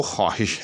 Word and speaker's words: خواہش: میں نہیں آئے گا۔ اسی طرح سے ایک لفظ خواہش، یہ بھی غلط ہے، یاد رکھیے گا۔ اس کا بھی درست تلفظ جو ہے وہ خواہش ہے۔ یہاں بھی جو ہے وہ لکھنے میں تو آئے گا لیکن بولنے میں نہیں آئے گا۔ اسی طرح ایک اور